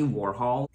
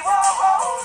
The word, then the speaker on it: Warhol: He was saying that it's Andy Warhol, but I looked up the pronunciation of Andy Warhol. Google says it's Andy Warhol, as in H-A-A-L or something, Warhol.